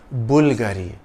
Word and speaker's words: Bulgari: sotirio Bulgari in Italian the emphasis is on the first part of the name Bulgari the Bulgari logo is